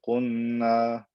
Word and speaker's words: قلنا: Don't say قُلْنَا, قُل, قُلْنَا. Pronounce the lam clearly.